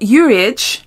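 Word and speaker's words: Uriage: most of the time got uage is how you say it uage uage uage this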